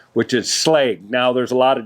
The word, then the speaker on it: Schlage: latch that we like to use is the slag brand and that's how you pronounce it if you go up on their